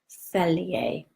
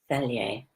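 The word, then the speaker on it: Fhelyai: Okay, it's Archangel Feliae, and it's F-H-E-L-Y-A-I, Archangel Feliae.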